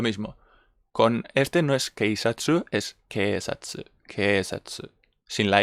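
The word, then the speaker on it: 警察: This one is not keisatsu, it's keisatsu, keisatsu, okay? Long vowel.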